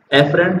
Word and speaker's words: afferent: एफरेंट और इफरेंट दोनों में फर्क ये है, ए और ई का फर्क है।